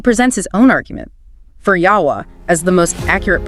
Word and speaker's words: Yahweh: But then he presents his own argument for Yahweh as the most accurate pronunciation.